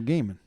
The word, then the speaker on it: Gaiman: were mispronouncing them and we're mispronouncing neil gaiman gaiman yes it's gaming all right so is